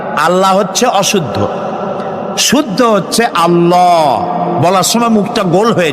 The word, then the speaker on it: আল্লাহ: আল্লাহ নয় কিন্তু আল্লাহ হচ্ছে অশুদ্ধ শুদ্ধ হচ্ছে আল্লাহ বলার সময় মুখটা গোল হয়ে যাবে বলেন তো সবাই উচ্চারণ করেন আল্লাহ আবার বলেন আল্লাহ আবার বলেন